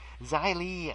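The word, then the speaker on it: Xia Li: did verse is xylene spelled with an X zai Li from China and she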